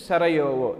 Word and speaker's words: Sarajevo: Actually spelling is J-E-U-O, the pronunciation is Sarajevo.